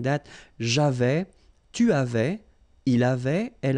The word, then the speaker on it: j'avais: So j'avais, final S not pronounced, tu avais, il avait, final T not pronounced, nous avions, let's make this beautiful liaison here, nous avions, okay?